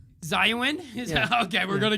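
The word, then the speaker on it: Xiaonan: Yeah, X is silent in Chinese. Zayuan?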